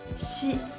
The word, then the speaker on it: xi: So when you pronounce these 3 initials, you need to put the tip of your tongue behind your lower front teeth. ji, qi, xi.